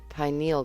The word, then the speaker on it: pineal: system and it secretes the hormone melatonin your penal gland's main job is to help control the